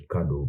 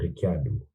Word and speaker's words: Ricciardo: lando and ricciardo yeah it's funny how people say his name is ricardo but it's actually an italian name ricciardo richard yeah the london